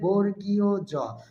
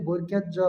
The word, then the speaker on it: বর্গীয় জ: জ এটি অল্পপ্রাণ বর্ণ সঠিক উচ্চারণ হবে বর্গীয় জ অনেকে এটাকে বর্গীয়ত জ বা বর্গীয়ত জ বলে